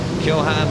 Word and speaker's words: Keohane: It's Keohane, of course, is how you pronounce his name correctly, and there he is on the front row of the grid.